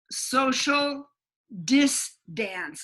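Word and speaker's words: Social Dis-Dance: But there is a great place called Social Dance, and it's spelled social, SOCIAL space DIS hyphen dance, DANCE. It's like distance, but dance.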